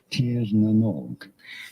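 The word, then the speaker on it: Tír na nÓg: Tirnanog.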